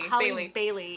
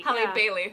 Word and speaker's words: Halle Bailey: But no, yeah, how do you pronounce her name? Bailey. Bailey. Halle Bailey. Halle Bailey.